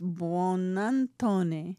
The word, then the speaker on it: Buonantony: and I know how to say this, Buonantony.